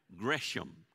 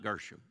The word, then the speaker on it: Gresham: Gresham, not Gershom, Gresham. All right.